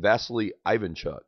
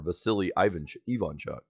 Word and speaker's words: Vasily Ivanchuk: And this game is between Hikaru Nakamura and Vasily Ivanchuk, or Vasily Ivanchuk, as I believe is the correct pronunciation of his name.